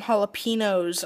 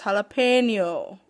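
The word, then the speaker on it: jalapeño: I would like some jalapenos on my sub and I'm just like that's not how you say it it's jalapeno there is an accent mark over the n learn how to speak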